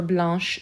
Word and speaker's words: blanc: adding an h e the ch for blanche sounds like a sh whereas the c in the masculine form is completely silent blanc blanche finally we